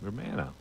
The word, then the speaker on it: Romano: Romano.